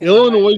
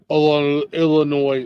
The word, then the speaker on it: Illinois: fortitude all right what Illinois is Illinois is five in one oh my God I can punch you for pronouncing the S on the end of that State Illinois I do it on